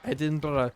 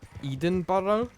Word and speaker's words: Edinburgh: I remember conquering my opponents when I pointed out that, like, we get mad when Americans call Edinburgh Edenborough, despite the fact that's how it's spelled.